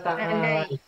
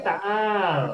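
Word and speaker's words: تعال: Kalau laki-laki ta'al. Ta'al. Tetapi ta'al itu asalnya ta'ala. Cuma di wakof ta'al. Ya. Sukun kan ada sukun kan.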